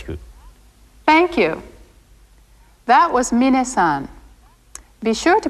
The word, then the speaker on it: minna-san: is those Irish good thank you that was minna-san be sure to pronounce his name minute not mine next see